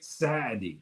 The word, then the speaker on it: Saadi: In Arabic, Saadi is how you pronounce it, Saadi.